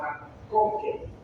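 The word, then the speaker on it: MacConkey: Así como McDonald's, pero McConkey.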